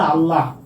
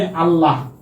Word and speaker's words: আল্লাহ: যেমন আমরা বলি না আল্লাহ, আমরা বলি আল্লাহ। আল্লাহতে হ আছে, তাই তো? আল্লাহ। কিন্তু আমরা উচ্চারণ করার সময় কি বলি? ওরে আল্লাহ। মানে আমরা এই যে হটা উচ্চারণ করি না।